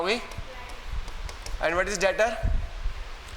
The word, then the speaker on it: debtor: क्या हो गई, and what is डेटर, डेटर B silent है।